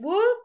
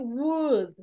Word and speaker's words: would: Once again, we're going to practice, but la L, basically, do not pronounce. It's would. Would.